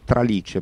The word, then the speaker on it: tralice: Come dicevi tu, riferito a me, è della famiglia di tralice, pronunciato con l'accento sulla I, che pur toscanismo è diventato pan italiano nella locuzione in tralice o di tralice, ovvero di traverso, obliquamente, di sbieco.